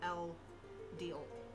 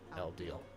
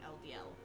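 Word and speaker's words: Eldeel: It's um according to like Ye's Wikipedia, L Deal. L Deal. Okay. So, you said it right. Not LDL.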